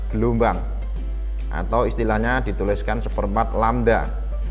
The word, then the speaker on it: lambda: Atau istilahnya dituliskan seperempat lambda. Ini membacanya lambda. Lambda.